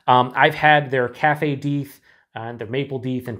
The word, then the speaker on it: Deth: emailed the brewery and they said it's deeth not death so it beats tar